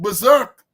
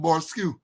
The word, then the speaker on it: berserk: The man went berserk. You know, a man is saying, when you see the word berserk, he pronounced some Borskew.